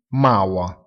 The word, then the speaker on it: Mauer: La E seguita dalla R alla fine di una parola si pronuncia con la vocale A. Ad esempio, muratore, Mauer, si pronuncia Maua.